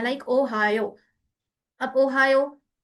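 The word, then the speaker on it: おはよう: what will it be, Ohio, a little long stretch at the end vowel के साथ। okay, Ohio, this one, a stretch one।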